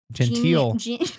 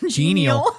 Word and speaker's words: genial: Fun elements of turning pages and characters interacting with printed words combined with Cabbitt's geneal gental. Genial. Oh, that's not gental. It's spelled the exact same way.